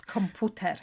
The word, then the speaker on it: komputer: It's komputer in Polish because the U's pronounced differently, lovely.